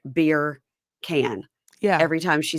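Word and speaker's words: Birkan: Beer can's pretty good. I had to write down beer can to remember how to say it because again, it looked like Birkin.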